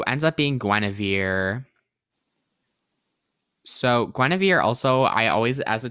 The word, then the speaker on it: Guinevere: then like but i'm i know i'm saying it right gwenevere because that's how they say it and once upon a